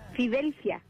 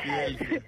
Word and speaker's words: Fidelcia: Fidelcia. Me encantó el nombre. Fidel y luego viene Fia.